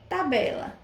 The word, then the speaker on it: tabela: Vamos ver tabela. Tabela. A sílaba tônica foi o B, a penúltima sílaba.